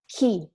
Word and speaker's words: chi: C-H-I is ki, hard sound, that you can translate with a K-I, like in English. So it's K sound, the K K sound in English, and which means who in Italian.